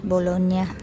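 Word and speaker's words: Bologna: Naisulat Dian Bulog na pero pronounce bolona niya G and n Magkatabi niya niya niya Ayan yung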